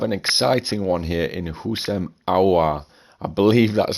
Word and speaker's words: Houssem Aouar: We have an exciting one here in Houssem Aouar. I believe that's how you pronounce his name.